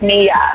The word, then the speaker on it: Maya: Actually, my middle name is spelled Maya, M-Y-A, but it's pronounced Mia.